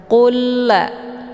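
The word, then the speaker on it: قل: Cara bacanya lam sukun dimasukkan ke dalam lam yang bertasydid dengan cara ditekan dan masuknya adalah kamil secara sempurna. qulla. Jadi yang dibaca itu lam yang bertasydidnya jadi satu lam.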